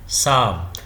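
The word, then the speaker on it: psalm: silent होता है जैसे यहां पर यह साइलेंट है साम तो यहां पर पी नहीं बोलते हैं तो पी साइलेंट होता है तो कुछ लेटर्स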